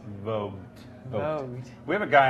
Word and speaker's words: Vogt: Vogt. Vogt? Yeah. I've Like never the spell it. Like VOGT, like the magazine Vogue. Vogue. With the T at the end. Vogt.